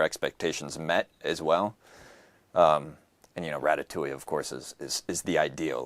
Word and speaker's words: Ratatouille: So first, how do you pronounce that? We say Ratatouille, yeah.